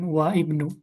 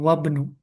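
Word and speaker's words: وَابْنُ: Wa ibnu man Nah, wa ketika seperti ini bacanya bukan wa ibnu, tapi langsung dia alifnya tidak dianggap, jadi wabnu.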